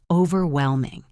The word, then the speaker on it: overwhelming: Look at the word overwhelming. This means something is too intense to handle. The stress is on whelm. Overwhelming.